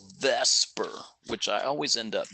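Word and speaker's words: VSEPR: r otherwise known as you say it as Vesper even though it's VF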